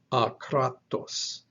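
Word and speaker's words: ἄκρατος: The diacritic over the second alpha in the word is the accent mark. That's the syllable that gets stressed. So it is akratos with a stress on that second syllable.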